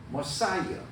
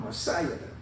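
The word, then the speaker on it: Messiah: 영어로 머사이어. 영어 발음 머사이어들.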